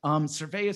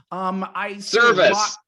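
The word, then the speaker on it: Servais: Cervea seems to really, really love this team, and I think that team really loves him. Service. His name is Service. I keep saying it wrong.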